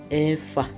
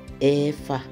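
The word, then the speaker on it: ẹ̀fà: We say Efa. Efa.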